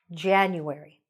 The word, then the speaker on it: January: January. Where was the stress? At the beginning. January.